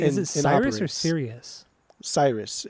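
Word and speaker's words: Sirius: it Cyrus or Sirus Cyrus it's it's spelled stupid but it's pronounced Cyrus is it okay yeah right cuz that the girl that I was watching on her YouTube videos she she said serious constantly and then on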